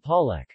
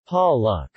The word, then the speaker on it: palek: The letter E is pronounced as the schwa oun, or A, as in Dios Mamahas. Dios Mamahas. And Palak. Palak.